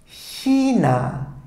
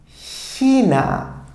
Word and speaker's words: China: yeah Panna Johanna him for China I'll say Sheena Sheena okay Sheena it's just like as if I would say ish right so if I put out the e and therefore I'll say Sheena Sheena if it's a meal I'll say she